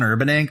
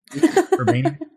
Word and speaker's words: Urbaniak: I kept thinking of John Urbank, the actor. Urbaniak.